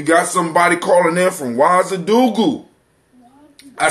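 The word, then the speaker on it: Ouagadougou: All right, somebody, we got, we got somebody calling in from Wazadugu.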